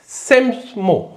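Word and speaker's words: psammo: करेंगे एक वर्ड है सेमसमो है ना सेमो इस यहां पी साइलेंट है तो सेमो एस ए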